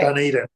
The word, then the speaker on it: Dunedin: Is that how you pronounce it? No, that'll do though. Okay. Dunedin.